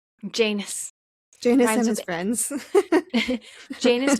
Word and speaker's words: Janus: Janus rhymes with anus.